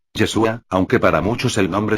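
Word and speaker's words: ישוע: que significa supuestamente salvación su pronunciación es en arameo yeshua aunque para muchos el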